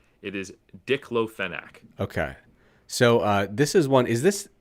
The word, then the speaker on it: diclofenac: Hold on, let me make sure I pronounce it right. It is diclofenac.